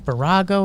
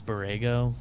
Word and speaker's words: Borrego: not in one right it's their coach's name barrago or something like that oh james borrego orego oh i can't believe you're pronounced that wrong jake james got it wow